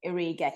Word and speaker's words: Origi: Another one is is Origi? Is that how you pronounce it? Origi? Divock Origi. Origi.